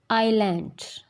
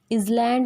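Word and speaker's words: island: जब भी एस, आई एंड एल इनके बीच में आएगा, when it comes between the आई एंड एल, तो इसकी साउंड जो है वो साइलेंट होती है, ये साइलेंट एस होता है। एज इट इज़ इन आइलैंड, इज़लैंड नहीं होता या आइसलैंड नहीं होता, इट्स आइलैंड।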